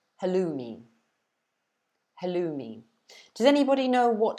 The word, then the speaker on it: halloumi: But in England, we pronounce it halloumi.